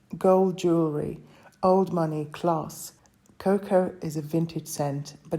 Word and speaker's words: Coco: Oriental you've just created cocoa from Chanel or coco de Chanel as it's pronounced in French it was released in